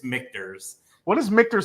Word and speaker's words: Michter's: you from Brian Mackey how does Dan pronounce mictors is it Victors or do you say mixtures no it is a it's a great question uh it is mictors so if you go